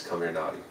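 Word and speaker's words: Comirnaty: come here nauy but if you phonetically pronounce it it's come here naughty c o m i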